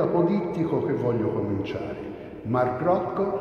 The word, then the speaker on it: Rothko: Markus Rothkowitz, diventato nel 1940 Mark Rothko, non Roccio, come sento, con un certo fastidio a volte pronunciare. Allora, Rothko, vero? Qui c'ho la fila degli americani che mi può spalleggiare. Peggio per loro. È quindi americano, no, e si dice Rothko.